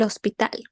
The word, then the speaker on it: hospital: one when talking or because H is silent same thing with o l hospital see you in the